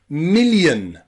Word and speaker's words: million: Okay, the eighth way that we can pronounce I-O is y, y. That y sound again in words like million, million and billion, and also opinion, opinion.